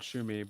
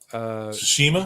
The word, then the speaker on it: Tsushima: It's not Shumi, but I can't pronounce it. Tsushima.